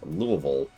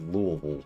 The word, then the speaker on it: Louisville: Yeah, for those it is Louisville. I I hate the pronunciation. It's called Louisville.